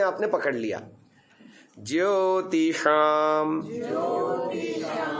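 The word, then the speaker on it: ज्योतिषाम्: ज्योतिषाम, पहला कैसे उच्चारण करते थे? ज्योतिषाम, ऐसा ही होता था ना, शाम होता था, वो तालव्य होता था। अब थोड़ा जबान को पीछे आकुंचन करके ऊपर फेंकने से बिल्कुल सटीक उच्चारण आ रहा है।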